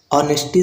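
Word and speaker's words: honesty: तो उसी प्रकार से नेस्टी में एच साइलेंट है तो यहां पर एच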